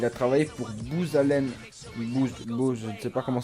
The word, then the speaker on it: Booz: Booz, je ne sais pas comment ça se prononce exactement, je m'excuse d'avance. Ça s'écrit B-O-O-Z. Moi je dirais Booz.